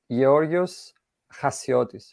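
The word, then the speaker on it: Γιώργος Χασιώτης: I'm Greek right so in Greek you you say yorios hasiotis right okay but the way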